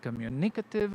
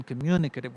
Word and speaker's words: communicative: For example, I said communicative, and it should have been communicative with the stress on the second syllable.